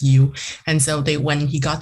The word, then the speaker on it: Yow: And so that's where the last name came from, and it's pronounced as you.